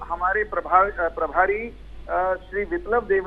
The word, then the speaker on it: बिप्लब देब: आप बार बार विप्लव देव कह रहे हैं, विप्लव है वह छोटी की मात्रा आधा प को पूरा बोला नहीं जाना चाहिए, विप्लव देव।